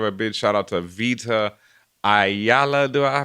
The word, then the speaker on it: Vita Ayala: Well, before we get out here, I also got to give a big shout out to Vita Ayala. Do I pronounce their name right? Vita Ayala, yes.